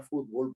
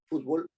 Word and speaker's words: fútbol: en en castellano no fútbol es una palabra grave que termina en L y que por lo tanto tiene que llevar acento en la u básquetbol también se escribe